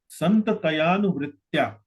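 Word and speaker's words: संततयानुवृत्त्या: Santatayanu vritya. So you took a little more time. Santataya anu. You mentioned Santataya anuvrittaya. Yes, Prabhu. So that has to be pronounced as Santatayanu, not Anuvritya, Santatayanu.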